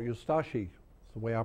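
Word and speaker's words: Ustaše: We pronounce it Ustashi. We pronounce the U and de-emphasize the Ashi. Ustashi. Ustashi.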